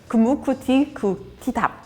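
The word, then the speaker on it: kumukutikutitap: T at the end, so it's.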